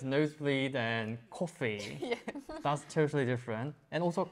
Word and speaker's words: 커피: For me, sometimes it's O and O. Kopi, Ah, 코피, the nose bleeding, and kopi. 코피 and Coffee. coffee. Coffee and Totally coffee is different.